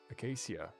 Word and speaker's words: acacia: Acacia.